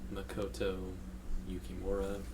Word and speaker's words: Makoto Yukimura: For number 5 on my offer list is Makoto Yukimura. That's how it's spelled and pronounced.